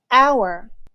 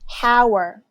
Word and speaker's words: hour: minute hr refers to hour hour don't say howard the h is silent d refers to day